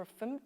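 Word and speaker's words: gofmt: there is a tool called go FMT or affirmed I think it's officially supposed to be pronounced which automatically formats your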